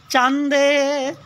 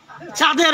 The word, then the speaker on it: চাঁদের: একজন উচ্চারণ করতেছে চান্দের যারা বাংলা ভাষাভাষী না তারাই চাঁদ চাঁদ উচ্চারণ করতে পারে না তারা চান্দের বলে ঠিক আছে এবার জয় জয় গোড়া চান্দের চান্দের আর চাঁদের পার্থক্য কি?